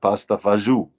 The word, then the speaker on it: pasta e fagioli: Anyway, they would serve pasta fagioli, pasta e fagioli. Pasta with beans. That was the soup. But they would pronounce it pasta fagiù, pasta fagiù, pasta fagiù.